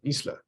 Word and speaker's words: isle: It's isla. Over time, so this was 1,000 years ago when the word came into English. For whatever reason, we just stopped pronouncing the S.